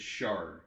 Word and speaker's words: shard: You mispronounced it. It's shard. Oh, shard.